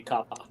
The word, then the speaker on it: kappa: trying well all this all the a's will always be the same so it should actually be kappa kappa oh that's like